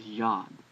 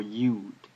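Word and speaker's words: יוד: numeric value as well it's pronounced ya ya ya it's a y sound and it can also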